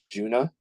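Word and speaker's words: Djunah: their first tour and they're called Juna it's spelled d-j-u-n-a-h and they're pretty incredible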